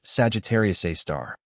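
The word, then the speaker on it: Sagittarius A*: This source named Sagittarius A asterisk, pronounced Sagittarius A star, was emitting radio waves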